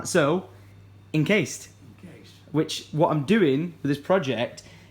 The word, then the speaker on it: Inkcased: Inkcased. No. Try and say it like it's almost 2 words. Encased.